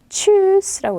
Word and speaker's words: Tschüss: Tschüss라고 있습니다. 추 발음이 나야 돼요. tschüss라고 읽으시면 되고요.